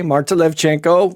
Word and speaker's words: Marta Levchenko: And this on my screen is Marta Levchenko. Did I say it right? Yeah. Okay, Marta Levchenko with City of Goodness or Misto Dobra.